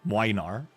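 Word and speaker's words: Młynar: Uh, and then Gregor's guy, Minar, that's how you pronounce it, by the way. Minar. It's a It's a Polish name. It has a weird letter in there. It's Minar.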